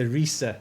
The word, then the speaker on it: Riese: Well, it's supposed to be the Rissa, right? We all say it wrong.